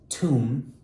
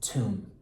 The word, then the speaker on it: tomb: This word here is pronounced tomb. You don't pronounce the B there. It's just tomb.